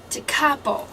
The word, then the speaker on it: Tekapo: We went down to, I guess I've been pronouncing the word wrong, Tekapo? Tekapo. Tekapo, okay. So I've been saying Tekapo and stuff like that.